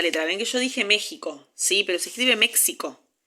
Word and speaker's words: México: México se dice en Estados Unidos, por ejemplo, pero acá decimos México. Eh, entonces ahí a la X se le asigna un valor fonémico distinto. Sí, suena como J.